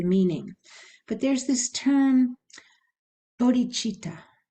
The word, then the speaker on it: bodhichitta: clear about the meaning but there's this term bodhichitta it's spelled b-o-d-h-i-c-i-t-t-a bodhichitta and this is um it